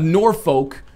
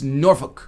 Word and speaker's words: Norfolk: you didn't go oh it's not uh it's not Suffolk or it's not Norfolk it's norol it's not Middlesboro it's